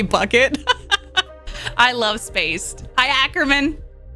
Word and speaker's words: Bouquet: Bouquet. It's pronounced bouquet. It's like literally bucket.